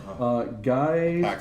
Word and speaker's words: GYX: So you can see there in the graphic below, it's spelled GYX. That's guys. That's how they pronounce it.